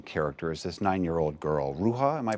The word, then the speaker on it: Rouha: One of the characters, very, very striking character, is this 9-year-old girl, Ruha, am I pronouncing it correctly?